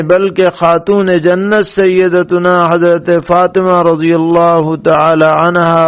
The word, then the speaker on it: فاطمہ: قا پر جزم ہے یا زیر ہے، اور اس کے معنی کیا ہے؟ تو فاطمہ قا کے زیر کے ساتھ ہے، اور اس کے